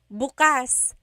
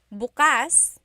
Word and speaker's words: bukas: If you say bukas, bukas, the emphasis is on the second syllable. That means open. If you say bukas, bukas, emphasis is on the first syllable. that means tomorrow.